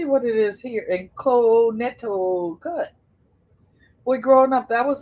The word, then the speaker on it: Connecticut: Let me see what it is here in Connecticut. Boy, growing up, that was a hard state to learn how to spell. So, because the C is silent.